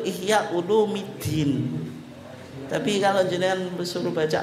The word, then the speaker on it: Ihya Ulumiddin: itu aljilani tapi muda kayak Ihya Ulumuddin itu yang betul Ihya ulumiddin tapi kalau jenengan suruh